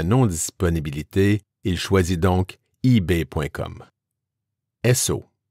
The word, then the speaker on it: Esso: Esso, prononciation des initiales S et O des mots Standard Oil.